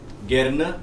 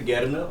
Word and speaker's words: gerne: In the pronunciation, yes, Gerne and Gern, but it's a colloquial difference. There's no meaning, doesn't change. Okay. Either you say Gerne or Gern, it's the same.